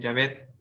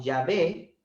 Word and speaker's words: Yahvé: Inclusive las versiones católicas lo que hacen es quitar la H intermedia, porque tampoco se pronuncia en el español. Y al final escriben Yahvé, Y-A-B, Y-A-V-E, con tilde, ¿no?